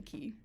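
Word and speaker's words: Cay: Um so I experienced a lot of Nassau and a lot of Castaway Key. Um, yes. It's key, not K, even though it's spelled C A.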